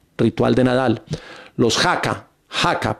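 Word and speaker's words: haka: Jaca, pronunciado jaca, dice, son danzas tradicionales colectivas que combinan movimientos, voces y gestos vigorosos sincronizados de la cultura maorí.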